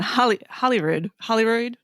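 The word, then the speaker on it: Holroyd: Hang on, Holyrood. Yeah, it's spelled Hollyrod. Yes, so Gillian Holyrood, and she's part of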